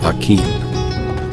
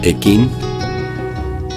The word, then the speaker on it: Aquin: So I think grammatically that would be A, and then the Q-U-I-N, if we go with a English pronunciation, would be Quin, or if we go with more of a Latino pronunciation, it's going to be Kin.